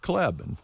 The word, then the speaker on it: Klebe: celebrating the birthday teresa kleb now that's one that uh people who move from a way never get right because it's spelled klebe but it's pronounced cleb and living here i